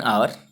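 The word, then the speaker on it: hour: एन आर, एच क्योंकि इसको हावर नहीं बोलते हैं, एच साउंड नहीं होता है यहाँ पर, एच का प्रोनाउंसिएशन नहीं होता है, इसलिए ये एन आवर वाउल साउंड है, इसलिए इसके आगे एन लगा।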